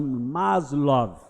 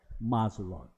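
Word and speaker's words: Maslow: Alguns leis Mazlow, outros leem maslov, mas a pronúncia é masov.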